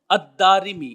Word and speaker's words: الدارمی: جاننا بھی ضروری ہے۔ الدارمی، اس کا تلفظ یہ ہے، دال کے اوپر زبر ہے، پھر اس کے بعد الف ہے، پھر را کے نیچے زیر اور پھر میم کے نیچے زیر ہے۔ الدارمی۔ اب یہ جو میں